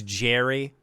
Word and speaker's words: Gerry: His name's Jerry, but it's spelt with a G. It's like Gerry.